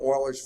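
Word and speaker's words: Euler: groundbreaking there are several formulas out there called Oilers formulas or Oilers method or Oiler this and Oiler that his name is spelled e u l r but it's pronounced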